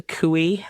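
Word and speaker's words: khui: how to pronounce the kooey? Like the So there's layers to that. I always I always say it. Okay. I always say kooey because it sounds like cooty.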